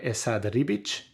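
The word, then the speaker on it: Esad Ribić: thor by jason aaron volume 1 omnibus by essa de ribich that is how you say that name there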